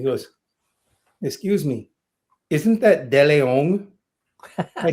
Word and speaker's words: DeLeon: So I kept the Spanish pronunciation after getting scolded by this Hispanic cardiologist.